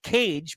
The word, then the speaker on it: Cage: And speaking of people that are last name Cage, rhymes with rage, Cameron Cage.